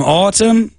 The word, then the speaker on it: autumn: I'm just going to read some sentences in English now, and you're going to hear loads of words with a silent M. Here's the first one. Damn, autumn, it looks so solemn.